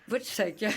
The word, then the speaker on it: Wojciech: Prononcer son nom. Oui, alors attendez. Si elle m'écoute, ça ne va pas être facile. Wojciech.